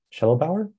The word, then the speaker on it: Shedelbower: you pronounce my name my last name is shell Bower so yep that's how you say it uh uh let's see